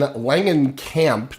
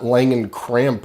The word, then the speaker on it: Langenkamp: And Langenkamp, not Langencramp or whatever you said.